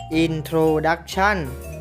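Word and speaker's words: introduction: u c t i o n อ่าน ว่า Intro ดักชั่น หมาย ถึง ตอน นำ หรือ ท่อ นำ ของ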